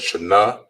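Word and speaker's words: שנה: Year in Hebrew is pronounced as shana.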